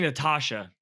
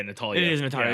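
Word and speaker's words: Natalya: the top yeah wait am i saying it wrong as a natalia natalia i was saying natasha well i think it's a tall yeah natalia you're right yeah but yeah with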